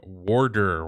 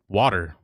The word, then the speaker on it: water: Americans pronounce it wrong. Warder. Why do you guys swap T's for D's? Warder? What the fuck? Who says warder? Water. Water. Water. It has a T.